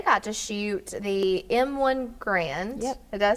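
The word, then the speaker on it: Garand: that because they got to shoot the M1 grand did I say it right that's right and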